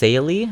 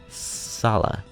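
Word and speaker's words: Saleh: probably salah who i thought his name was pronounced saily when i first played sacred stones as a child but then i listened to yuan's voice lines and it's pronounced salah so anyway for those who haven't played sacred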